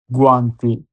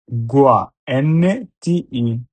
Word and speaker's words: guanti: ও এন A gone, N এ আনা গন্না, guanti, G-U-A, gua, N-T-I, guanti, inglese, I-N-I, G-L-L, S-S, inglese, gru, G-R-U, gru, attention.